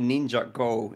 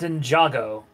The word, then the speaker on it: Ninjago: n oh it's pronounced Ninjago okay like it's like it's like a it's like ninja and Lego put together so it's Ninjago yeah